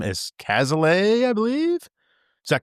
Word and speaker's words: Cazaly: I'm going to butcher his last name as Cazaly, I believe. Is that correct? Cazaly. Very close. Cazaly. Jeez. You butchered said by that like 10 minutes ago.